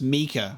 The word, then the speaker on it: Mika: Oh, it's pronounced Mika. Okay. There you go. Okay, you're off the hook. But obviously, Micah from Red Dead Redemption 2 is how I know that name.